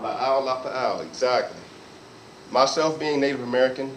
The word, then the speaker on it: La'au lapa'au: La'au lapa'au. La'au lapa'au, exactly.